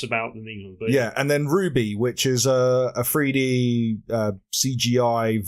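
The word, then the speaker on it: RWBY: you seen a written down before so it's Ruby it's Ruby Rose and W is Wiese and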